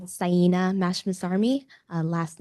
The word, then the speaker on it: Mashmasarmi: Um, my name is Sena Mashmas and I'm My name is Sena Mashmasarmi. Uh, last name is spelled M A S H M A S